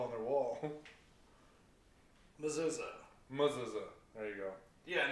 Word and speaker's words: Mezuzah: Mezuzah. So yeah, no, that's not. It's a great word. Mezuzah. It's spelled M-E-Z-U-Z-A-H.